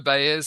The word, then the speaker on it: Baez: First of all, is that how we pronounce the name, or have we totally butchered it in every single podcast we have done? No, it's Baez.